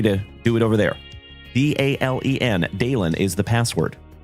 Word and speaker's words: Dalen: And my name is Dalen. D A L E N, like Dale plus N.